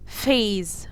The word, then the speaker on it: phase: ناس كتير هتيجي تقولي هي ال PH هنا، ايوه ال PH بتتنطق F وهي بتبقى ف، وناس كتير برضو ما تعرفهاش خاصة الناس اللي هي البيجنرز، فال PH بتبقى ف phase. اوكي.